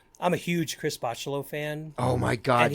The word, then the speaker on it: Bachalo: Oh yeah, I swear it is Bachalo.